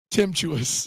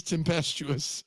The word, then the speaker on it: tempestuous: This the storm is not temptuous. It is tempestuous.